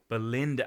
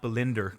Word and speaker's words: Belinda: the old woman saying my name is Belinda Belinda as in not belinder cuz that's what the racist old Southern lady calls her Blinder um that's it's